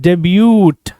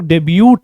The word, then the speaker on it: debut: बट इसको miss pronounce करते हैं बहुत सारे लोग, डेब्यूट से टी भी बोल देते हैं। Correct pronunciation is डेब्यू, डेब्यूट नहीं, डेब्यू।